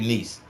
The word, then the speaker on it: Shanice: Shanice. Shanice. All right. Shanice. All right. Okay. Shanice. Okay. Wait, hold on. It's Shanice. All right. Uh-huh. Is it like Janice? Yes, it's with the Johice?